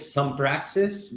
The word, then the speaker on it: Sumpraxis: So it's my company's name is Sumpraxis, which is spelled as SUMPRAXIS.